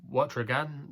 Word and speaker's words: Wautregan: This horse is trained by Thibaut de Wautregan. That's how you pronounce his surname.